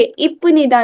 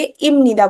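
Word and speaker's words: 입니다: अगर नीचे फ आ रहा है और उसके आगे मतलब सामने क्या आ रहा है, न या म में से कुछ आ रहा है, तो ये फ कैसे प्रोनाउंस होगा? म की तरह प्रोनाउंस होगा। तो हम इसको क्या बोलेंगे? इप निदा नहीं बोलेंगे, इम निदा बोलेंगे।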